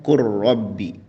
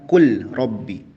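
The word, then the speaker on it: قل رب: Seperti pada contoh qur rabbi. Jadi tulisannya kul rabbi, tapi dibacanya qur rabbi, bukan kul rabbi, ya. Huruf lam melebur langsung ke huruf ro.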